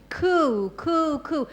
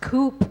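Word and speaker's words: coup: For example, there was a certain period coo, and it's not pronounced coop, okay? Coop is where the chickens live sometimes.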